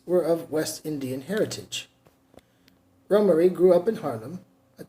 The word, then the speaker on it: Romare: their only child Rohmer is pronounced rumery and is a West Indian name for both parents were of West Indian heritage Ron Murray grew up in Harlem